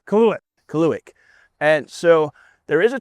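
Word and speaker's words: Kaluhyat: We are at Turning Stone this weekend on Friday for the USAM Tour Albany region event at Course K, which is pronounced Kaluik.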